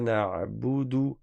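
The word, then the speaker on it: نعبد: Iyyaka na'budu. Na'budu, le ayn, là c'est une erreur que beaucoup de font qui est de ne pas prononcer correctement le ayn.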